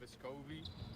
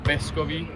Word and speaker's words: Vescovi: Back home it would be Vescovi, the accent would be on the first E instead of the O, like people say here.